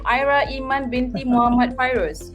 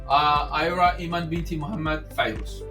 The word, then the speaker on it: Ayra Iman binti Muhammad Fairuz: You have to pronounce the full name. Ayra Iman binti Muhammad Fairuz. So let me practice. Ayra Iman binti Muhammad Fairuz.